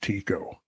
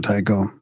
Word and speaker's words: Tycho: And from my scholarship days, I recall that Tycho was actually pronounced Tico. Yeah. I can't get away from Tycho. It's hard, right? You want to say Tycho.